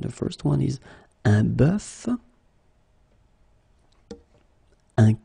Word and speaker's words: bœuf: first one is un bœuf, un cœur. It's actually quite interesting, because even if you write them differently, you pronounce them the same way.